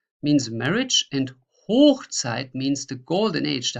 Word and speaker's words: Hochzeit: I just mark you this hoch to show you what needs to be pronounced stronger to make the difference. So Hochzeit means marriage and Hochzeit means the golden age, the high time.